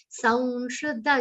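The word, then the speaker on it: संशुद्ध: Sanshuddha, again anuswar we pronounce like a nasal va.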